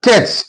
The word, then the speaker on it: catch: Catch, T is silent here.